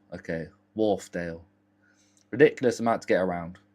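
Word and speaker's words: Wharfedale: It's pronounced Wolfdale. Oh, is it not Wolfaddale? Okay. Warfdale.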